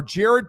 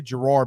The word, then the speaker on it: Gerard: Titans coach Gerard or Jared Parker I always want to say Gerard because it starts with a g right the way it's spelled I kept thinking it was Gerard and I even when